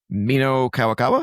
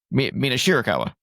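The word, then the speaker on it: Mina Shirakawa: So it was a title for title match with Mino Kawakawa. Is that how you say her name? Mina. Mina Shira Mina Shurikawa. Mina Shurikawa.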